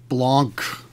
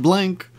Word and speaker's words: Blanc: It is Victor the king of the morons here with another Julian Blancc. Apparently his name is pronounced blanc not blank.